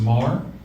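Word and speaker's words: Meagher: it's Mah uh spelled l i a m m e a g h e r but pronounced Mar it's a gayc and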